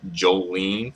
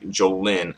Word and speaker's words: Jolin: that like sometimes I I'm used to pronounce her name as Jolene for some reason um I guess that's how I learned her name but it's really Jolin Tsai but for years like I pronounce her name as Jolene ty so you know I'm